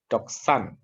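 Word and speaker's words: δόξαν: Ini D biasa, ini X, doksan.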